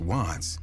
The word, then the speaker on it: wvttz: The name wvttz, pronounced Watts, paid homage to an LA neighborhood, while CHII, pronounced C-High, signified his affiliation with the Crips, a notorious street gang.